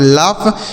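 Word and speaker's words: laugh: अगला शब्द है एल ए यू जी एच तो एल से हो जाता है दोस्तों ल। इस ए और यू का उच्चारण अ हो जाता है। जी एच से होता है घ लेकिन यहां पढ़ा जाएगा फ। क्या पढ़ा जाएगा? फ। ठीक है? इसे पढ़ेंगे लाफ।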